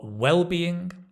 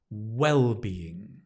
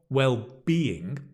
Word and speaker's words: well-being: Synonyms for health are well-being, wellness, fitness. Notice the stress is on the first syllable. Well-being. Okay, not well-being. Mm-mm-mm. Well-being. Wellness.